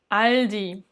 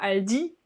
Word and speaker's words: Aldi: autre a quasiment derrière aldi aldi et tu remarques encore un dip et où donc l'accentuation sur la première syllabe et c'est pas elle dit comme on dirait en français à elle dit elle dit deutsche telekom deutsche